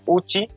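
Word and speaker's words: Ouchi: William G ওসি, তার উচ্চারণটা অনেকে উচি উচ্চারণ করে, অনেক জায়গায় ওসি উচ্চারণ করা হয়। অধিকাংশ অপশনে ওসি দেওয়া, কিন্তু ইংরেজি উচ্চারণ করতে গেলে উইলিয়াম যে উচি উচ্চারণটা হয়।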